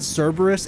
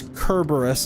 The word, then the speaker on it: Cerberus: Like the real pronunciation of Cerberus isn't Cerberus, it's Kerberos, apparently, according to some people. Or Kerberos, or something like that.